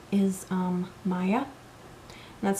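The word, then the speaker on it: Maia: Um, another kit company that I do like is um, Maya. That's spelled M A I A.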